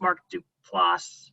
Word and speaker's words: Mark Duplass: I think it's Mark Duplass, that's how you say it, that is the director, and he's got some interesting stuff and also in acting.